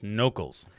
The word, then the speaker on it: Knowcals: the new venture that we're starting is called nocles and it's spelled k-n-o-w c-a-l-s and it's locals who know